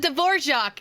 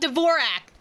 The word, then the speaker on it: Dvorak: a musician from Fontaine they actually pronounce it dorak and not Dvorak I'm very happy okay let's go dorj like the composer okay and I'm assuming